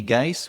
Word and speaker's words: Geis: Really happy to have Eddie Geis with me today. Rhymes with ice.